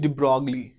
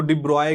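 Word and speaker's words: de Broglie: है Louis डी ब्रॉगली, या उनको डिब्रॉय कहते हैं, उनका जो एक्चुअल प्रोनाउंसिएशन है वो डिब्रॉय है, बट in India we are calling, हम कहते हैं उनके नाम को डी ब्रॉगली। It's like ब्रोकली, इट्स डी ब्रॉगली।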